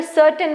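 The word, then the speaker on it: certain: स ही बना glens सर्टेन सी के बाद ई आ रहा है इसीलिए यहां पे सर्टेन बना कर्टन नहीं बना कर्टेन की स्पेलिंग अगर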